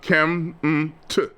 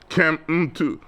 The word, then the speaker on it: Kemet: And it's pronounced kem-t, kem-t. The E that you see in writings today is what Egyptologists use to make the language simpler.